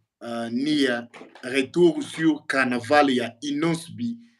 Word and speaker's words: Neah: En tout cas, soki nano moni nano yoki ete kende oluka ye Madia ka ndenge oyoki na prononce yango M-A-D-I-A Madia Nia eza N-E-A-H.